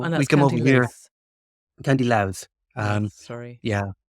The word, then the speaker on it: Louth: County Louth. Sorry. Yeah. We pronounce it loud, L-O-U-D. So it's loud and proud.